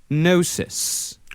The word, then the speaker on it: gnosis: It's gnosis. So, let's say nosis.